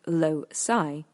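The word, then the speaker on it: loci: method of low the method of loai pronounced loai relies on imagery of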